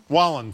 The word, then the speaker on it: Wallen: Is that how you pronounce this country singer? Poking fun at the Kiss. How do you say his name? Wallen, thank you.